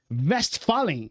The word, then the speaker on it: Westphalen: Westphalen, é isso?